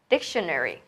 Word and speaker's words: dictionary: Thì đó chính là trọng âm. Đó là âm tiết đầu tiên. Dictionary.